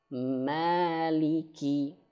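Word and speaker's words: مَالِكِ: A A Ma, nah tidak masuk hidung. Jangan langsung mim ma, nah masuk hidung jadinya. Seperti itu ya, nah ini dasar sekali teman-teman. Nah maka ketika mim fathah dan panjang maka dia harus sempurnakan mad thobi'inya.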